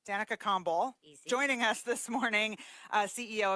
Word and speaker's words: Kombol: a humble all right just like it's spelled easy Danica calm ball joining us this morning